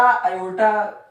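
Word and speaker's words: aorta: इस वॉल्व को ऑर्टिक valve बोलते हैं और इससे एक आर्टरी जुड़ी होती है, ठीक है। कौन सी जुड़ी होती है आर्टरी? ऑर्टा, ऑर्टा आयोटा, जो प्रोनाउंसिएशन आपको करना हो कर सकते हैं, ठीक है।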